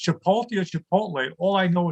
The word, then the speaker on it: Chipotle: But my son always corrects me and said, Dad, it's Chipotle. I said, great, this kid got a 40 on the Spanish regions. He's corrected me now. So whether it's Chipotle or Chipotle, all I know is I really